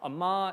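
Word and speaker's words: אמר: Amar is basically the Yorkshire accent version of the Hebrew term.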